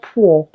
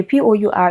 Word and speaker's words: pour: Okay, so it is not poor. Okay, POUR is not pour me a cup of water from the jug. Pour.